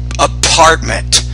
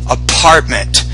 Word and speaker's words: apartment: with your pronunciation uh you're having some problems with the p PP apartment apartment so you're not pronouncing the p with enough air so go to the pronunciation area of my course and review the pronunciation of the P consonant sound I think that would